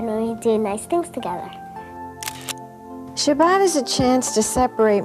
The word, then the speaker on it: Shabbat: have changed a little my grandmother called it Shabbos whereas today we use the Sephardic pronunciation Shabbat but it has always